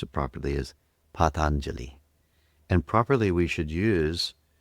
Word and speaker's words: Patanjali: Patelli. But the proper pronunciation for those who'd like to learn how to pronounce it properly is Patangeli.